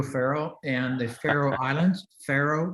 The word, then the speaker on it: Faroe: Faroe, that's how they pronounce it.